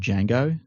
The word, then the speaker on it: Django: It's because it's like saying the word Django. The D is silent.